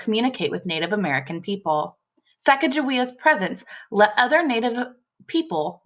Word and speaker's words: Sacagawea: I've heard it two different ways I say Sacagawea and some people also pronounce it Chicago iam here in the book